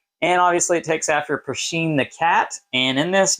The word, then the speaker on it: Pusheen: And in this video, we're going to be taking a look at Pusheen the Cat Purrfect Pick Card Game. You're not saying it right. It's Pusheen.